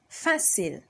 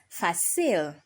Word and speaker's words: fil: to raise your voice or the word stress falls on the accent for example fil fil so fil has an accent on the a all right so you raise your voice at the a it's not fail if you pronounce it fail you are totally wrong it is f because